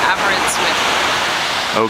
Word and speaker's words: Aberystwyth: okay we're here in how would you pronounce the name uh the lady said Aber with okay so we're here in Albert with and what did we